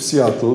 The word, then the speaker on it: Seattle: latach 9195 w uniwersytecie w Seattle tak się wymawia w Stanach Zjednoczonych na wydziale medycyny zrobiono